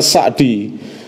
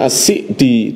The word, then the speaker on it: as-Sa'di: Abdurrahman Bin nashir as-sa'di sebagian orang bacanya sakti tapi guru kami Aceh adductor sholeh bin hammad bin Abdillah al-husainy membacanya asyik di tengah didasarkan Symbian Belle